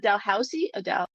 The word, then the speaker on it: Dalhousie: And the authors for the systematic review, Cameron Penny, Connor McGuire, and Michael Bazzuli from how do you pronounce this? Is it Dalhousie?